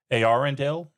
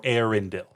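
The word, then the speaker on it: Eärendil: But any reader of Tolken has to think of and I'm going to pronounce it two ways because I've heard of both. Arendel or Arendil, the mariner of song,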